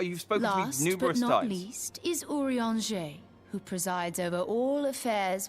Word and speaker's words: Urianger: whenever you have questions I would not have guessed that's how you pronounce I would have called them I would have called him urianger even the darkest night